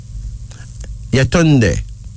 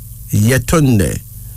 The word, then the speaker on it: Yetunde: And finally, Yetunde. Yetunde.